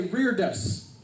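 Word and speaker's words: reredos: I wanted my my my useless church word of the week is rear dose reared us rear does not cite you pronounce it everybody say rear desks yeah that's the weird one huh it doesn't need you don't even pronounce it the way it looks and the definition of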